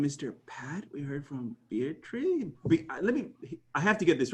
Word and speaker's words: Beatriz: We heard from Beatrice. I have to get this right. Beatrice? How do you say it? I'm terrible with names. Go for it, Beatrice. Beatriz.